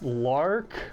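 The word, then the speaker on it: Larq: My number 2 choice is this Lark, I think that's how you say it, L-A-R-Q water bottle.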